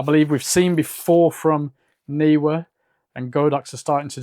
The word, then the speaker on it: Neewer: Now, while I'm still a Godox user, it looks like Neewer are really stepping up their flash game.